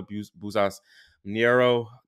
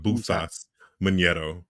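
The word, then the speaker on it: Bouzas Maneiro: And then she beat Jessica Buzas Niero. You have to correct me on that pronunciation, unfortunately. So it's Jessica Buzas Maniero, from what I've gathered.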